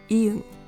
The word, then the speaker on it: 이응: It sounds like NG sound. 응, 응, 응. Today's lesson takes some of your time thanks to this consonant. As you can tell, 이응 is kind of different from other consonants because it's pronounced as 받침 only.